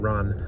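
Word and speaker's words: 乱: I think, about Ran, I want to pronounce it Ran because it's an English word aesthetically, but it's a Japanese word, Ran. The Japanese R is really hard to do.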